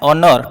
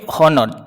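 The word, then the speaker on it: honour: singular কথা কিন্তু যেহেতু ডেফিটার হি ইজ ড্যাশ অনর টু হিজ প্রফেশন বুঝলা এখন প্রচার হর্নর এখন পড় পারবে এটা হর্নর এচ যেহেতু হচ্ছে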